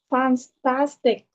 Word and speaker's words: fantastic: Where do we put the stress? Chúng ta sẽ nhấn vào âm nào? Second. Second, right? So we must push it higher.